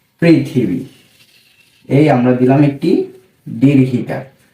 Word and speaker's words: পৃথিবী: পৃথিবী লিখার জন্য এই আমরা লিখলাম একটি প লিখার পর এর নিচে যদি একটি ঋকার দিয়ে দেই তাহলে এর উচ্চারণ হবে কি? পিকার প্রি এরপর যদি আমরা থ লিখে একটি রশিকার দিয়ে দেই তাহলে হবে কি? প্রিথি কিভাবে হল? পরকার প্রি থ রশিকার থি পৃথি এরপর ব লিখে একটি